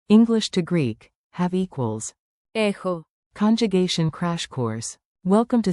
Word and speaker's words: έχω: I have echo you SG have ehis he she it has ehi we have ehume you plural have ehete they have ehun Pro tip, pronounce chi like a soft KH.